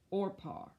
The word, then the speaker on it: Orpah: And her name, now I had to look this up on Google how to pronounce it, is Oprah. Orpah.